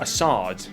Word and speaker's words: Assad: Assad. President Assad of Syria.